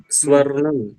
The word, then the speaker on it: स्वर्णम: आमनाय स्वर्णम स्नानम स्वर्णम। स्वर्णम। रा और णा के बीच में एक णा और आ जाएगा, स्वर्णम।